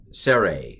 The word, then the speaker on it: sere: So the sere is a long E, sere. And it's pronounced A. I know that's confusing. Like, wait a minute, how is that A when it's written E?